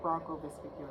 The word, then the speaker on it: bronchovesicular: So now we're going to do the middle ventricle bronchovesicular, that's how you pronounce it.